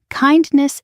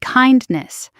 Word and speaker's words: kindness: Kindness is more delicious than bread. Notice the word kindness. Don't forget the n sound in the middle.